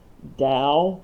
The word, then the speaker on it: Dao: time uh you'll sometimes see uh the word dao here d-a-o spelled with the t taoism the same and sometimes